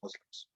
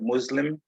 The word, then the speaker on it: Muslim: it is should be pronounced as s because it's coming from another language so it's islam and